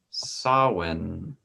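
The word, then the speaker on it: Samhain: uh it is called it is spelled s-a-m-h-a-n and it's and it's pronounced sawin if i can speak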